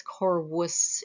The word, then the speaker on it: corvus: I would like to introduce you guys to the corvus or corvus. You'll hear it pronounced both ways. Corvus is classical Latin, so I'm going to go with that.